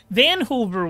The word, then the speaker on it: Van Hoover: a decent Undead team rhymes with Vancouver Dan Hoover okay Van Hoover White Caps I get